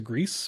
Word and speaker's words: Gris: Neva, I haven't played at all, but it's like the spiritual successor to Grease or Gris. I don't know how you pronounce that game. Gris, yeah.